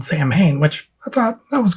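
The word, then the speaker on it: Samhain: and we started talking about how the correct pronunciation of of uh Sam Hayne as sa win right and I had heard interviews from the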